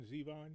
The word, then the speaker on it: Zevon: Pronounced Warren Zeon.